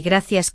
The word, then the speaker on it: gracias: Perdón con la R suave y gracias con esa C como una S en España o como una C suave en muchos países, ¿sabes?